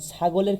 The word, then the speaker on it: ছাগল: অধ্বনির পরে কি এসেছে, আর ও এসে, অধ্বনির পূর্বে কি এসেছে, আ, যার কারণে এটার উচ্চারণ হয়ে যাবে সংবিত ও এর মতো, অর্থাৎ ছাগল। অনুরূপভাবে আমরা বলতে পারি কাজল থেকে কাজল, পাগল থেকে পাগল, ইত্যাদি ইত্যাদি।